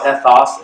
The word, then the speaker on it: ethos: They're pronounced logos, ethos, and pathos.